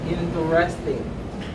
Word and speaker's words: interesting: No, I don't say interesting. I prefer to say interesting. Interesting. This word has 3 syllables.